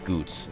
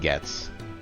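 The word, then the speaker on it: Goetz: I still can't quite get over the fact that it's pronounced Goots instead of just Gets, which is how it normally be.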